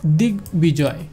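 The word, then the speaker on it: দিগ্বিজয়: এরকম দেখেন দিক বিজয়, দিক বিজয়, কারণ গ এবং ব একসাথে থাকলে সেটাকে আমরা আলাদা আলাদাভাবে উভয়কেই উচ্চারণ করব।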